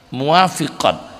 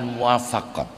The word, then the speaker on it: muwafiqat: enggak ada rasa sedih muwafiqat bacanya bukan muafaqat kalau almuwafaqat itu karya asyatibi kalau muwafiqat itu sudah